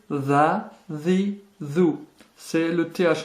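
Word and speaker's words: ث: Première difficulté, le tha. C'est un S très léger que vous prononcez en sortant légèrement la langue.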